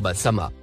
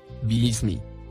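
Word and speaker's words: بسم: Les exégètes prononcent le mot Basama, comme ceci. Bismi. C'est-à-dire, au nom de.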